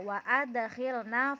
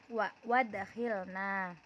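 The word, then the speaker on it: وأدخلنا: Wa adkhilna fi rahmatik, tidak dibaca wadkhilna.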